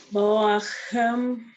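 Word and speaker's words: בואכם: It's a chaf. Boa. Say it again, please. Is that sound that the cough sound? It's it's a ch. Yeah, it's like from the back of your throat. Boachem Good.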